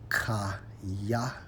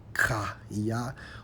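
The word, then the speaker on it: חיה: When you focus on revive, according to the Hebrew, Strong's H2421, pronounced as kaya, kaya, which means to live, have life, remain alive.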